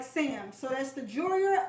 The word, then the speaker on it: Joyor: my channel today this video is about the joyer that's spelled j o y o r f like frank seven s like sam so that's the juria f 7 s unboxing so let's begin so